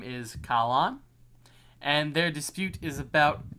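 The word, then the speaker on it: Calin: C-A-L for Cal and then C-A-L-I-N for Kalan. C-A-L for Cal and C-A... What? C-A-L-I-N. Kalan. L-I-N? Mm-hmm. Kalan. Like that. Yes, Kalan. Go ahead and keep pronouncing it that way.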